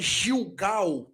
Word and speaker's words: Gilgal: a palavra gilgal é gilgal no português tanto no hebraico quanto no grego o g ele tem um sentido um som gutural então é G Gil Gal Ok a quarta letra